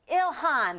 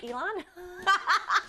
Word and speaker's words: Ilhan: portion of the Somalian the Somalian community in Elon Omar's uh district. And yes, I know I pronounce her first name wrong.